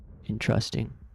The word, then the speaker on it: interesting: Interesting stresses the first one.